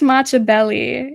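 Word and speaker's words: Matchabelli: Prince Machiavelli. It's spelled like matcha, like the drink, and then Belli.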